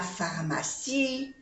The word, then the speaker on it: pharmacie: lejos la Farma la farm saemos que en francés muchas palabra se Uli pH se pronun farm no se pronuncia la e la pharma n'est pas